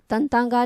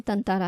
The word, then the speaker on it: तताँरा: उसने तंतारा, तंतांगा नहीं है, तंतारा है।